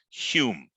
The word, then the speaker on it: Home: is Sir Alec Douglas Hume in typical British way in order to infuriate You by their eccentricity he spells his name home and he pronounced it Hume when McMillan a tired